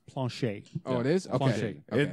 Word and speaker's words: Planchet: It's pronounced Planchet.